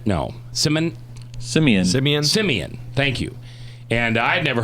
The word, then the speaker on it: Simeon: it right cinnamon no Simon simians it means Simeon thank you and I never heard that story